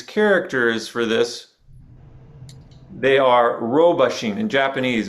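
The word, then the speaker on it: 老婆心: However, if you look at the specific Chinese characters for this, they are robashin. In Japanese, it's pronounced robashin. That beginning one is the ro, same ro as in roshi.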